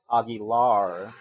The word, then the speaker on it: Aguilar: you start off with actually it's pronounced Augie lar your first impression is